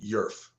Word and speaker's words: YRF: Oh, maybe that's just YRF is pronounced Yerf.